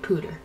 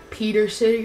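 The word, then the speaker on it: Pewter City: And yes, I said Pooter. I think that's how you pronounce it. I used to call it, like, Peter City or something like that.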